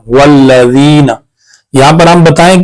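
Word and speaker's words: وَالَّذِينَ: वाव लाम ज़बर वल लाम ज़बर ला वल्ला ज़ाल याज़िर ज़ी नून ज़बर ना वल्लज़ीना।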